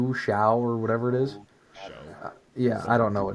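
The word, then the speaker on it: Shough: Show. Yeah, I don't know what it It's is. pronounced. Show.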